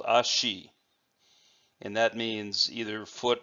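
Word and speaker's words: 足: The second character, which we have seen in earlier videos, is called ashi, and that means either foot, leg, or it can also mean a step.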